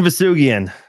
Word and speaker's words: Vousoughian: Vousoughian.